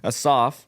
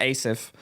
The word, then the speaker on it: Asaph: But yeah, so basically just looking at Psalm 73 and Asaph, or Asaph. I said that wrong and made everybody watch a creepy video of the correct pronunciation.